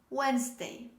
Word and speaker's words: Wednesday: of this word but just in case i'm reminding you the correct pronunciation is wednesday wednesday the next example a